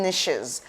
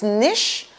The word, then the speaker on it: niche: way i know it's niche but but i call it niche why because i have a beloved mentor who calls it niche and his reason is because niches rhymes with riches very funny so in